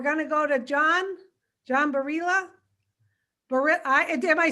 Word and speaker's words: Barilla: It happens to be a name that gets different pronunciations. Spanish, Barilla, but I'm not Spanish, I'm Italian. So in Italian, it's Barilla, but Americanized, it's John Barilla, like the pasta. Barilla pasta, but it's Barilla.